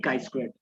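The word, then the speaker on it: chi-squared: this as a chi many pronounce it as chi chi square also it depends how you pronounce it but it is actually ideally chi squared now how chi square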